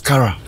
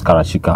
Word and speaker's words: Karashika: say her name is her name is Kara It's Not only Cara it's karachika I mean her real